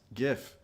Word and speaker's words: GIF: And yes, GIF with a hard G.